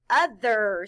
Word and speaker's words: other: In this word, the letter O stands for the short U sound, The letters T-H stand for the sound V.